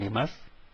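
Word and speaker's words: います: The two verbs are arimas and imas. The U at the end is silent. U at the end of all the verbs is typically silent, but not necessarily for any other word other than verb.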